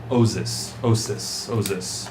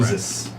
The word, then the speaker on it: Oizys: For the record, the name of the spirit that they were talking about is an Osis, S or Z.